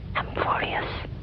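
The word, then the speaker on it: Amphoreus: You say A M F O R E U S. Did I get that right? That's not how you spell it. Uh, no. A M P H. Okay. A M P H orius.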